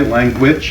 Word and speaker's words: language: So we say it in the New York way, language, it rhymes with sandwich.